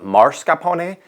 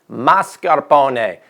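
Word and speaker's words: mascarpone: oz of mascaron cheese have you ever noticed that all the chefs on TV call it marcaron last time I checked there's an S there mascaron every time you pronounce it wrong Jada deenus sheds a tear and mascaron is just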